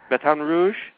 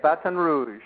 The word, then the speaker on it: Baton Rouge: you are you're in Bat Rouge did I pronounce that right yeah Baton Rouge batan Rouge that's how they say it batan Rouge Baton Rouge I'm I'm pretty good at Ling